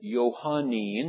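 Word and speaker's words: Johannine: And so if you add the little suffix on the end of it, Johannin is the way it's pronounced.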